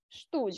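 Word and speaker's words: Stuhl: ми кажемо повним реченнямштуль штуль Повторіть за мною штуль Де штуль ми оце га не читаємо подовжуєм уштуль добре Маша будь ласка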